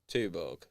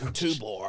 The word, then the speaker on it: Tuborg: Tuborg. It's Tuborg, isn't it? Like chew.